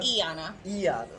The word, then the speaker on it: Iana: Iana, correct pronunciation? Iana.